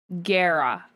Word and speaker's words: Guerra: So it is Guerra, like the name Sarah.